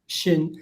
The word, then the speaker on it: Scheun: Scheun. It's German, right? It's pronounced like the German Scheun, yes.